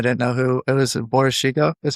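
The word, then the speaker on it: Boris Sheiko: Boris Chico is how you say his name? Yeah, Boris Chico, yeah.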